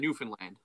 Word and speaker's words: Newfoundland: Newfoundland.